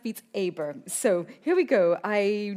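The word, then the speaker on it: Beat Saber: I've been told it's pronounced Beats Aber.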